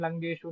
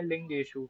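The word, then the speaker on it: लिङ्गेषु: जैसे कि आपने अभी बोला था सदृश्यम लिंगेशु नहीं है। लिंगेशु है।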